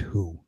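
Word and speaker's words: Hu: I have the legend of the driver named Who. And Who is spelled H-U.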